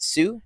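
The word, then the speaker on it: Hsu: message pronounce her name is it sue yep uh from everything everywhere all at once you don't say the H uh uh she's incredible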